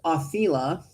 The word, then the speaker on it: Othila: Othila, pronounced Othila, is the rune of ancestors and family.